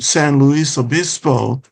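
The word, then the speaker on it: San Luis Obispo: And I I noticed that in uh when I first lived in San Louis Abyispo, that's the Spanish pronunciation for St. Louis the Bishop who was a a well-known bishop in Spain during the 1700s.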